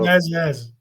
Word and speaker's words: Menezes: So you could just call him Mano Menezes. Menezes. Menezes. Menezes. There you go. Menezes.